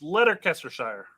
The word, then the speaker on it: Leicestershire: So I guess Shire is pronounced sure. Depends where you're from. Wales? Yeah, I don't know, dude. Again, American, I told you how I'd pronounce it. It's Leicestershire, right?